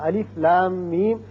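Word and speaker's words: الم: بھی دیا ہے کہ اس کو آپ نے جب پڑھنا ہے تو اس کا تلفظ یوں بنے گا الف لام میم، یعنی لا کو جب کھینچیں گے مد کریں گے 6 حرکات، پھر میم مشدد ہے اس پر غنہ کریں گے، پھر میم جب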